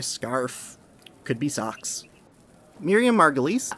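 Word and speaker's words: Margolyes: could be a scarf could be socks Miriam Margulis it's not pronounced margles by the way oh I'm glad you cleared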